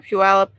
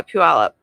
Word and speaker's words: Puyallup: working on listing in Bonney Lake up near Puyallup well you're not that far you're only like